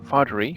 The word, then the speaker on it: Fatheree: welcome here for the very first time Steve Fatheree from the TexTrek podcast. I hope I pronounced your name right.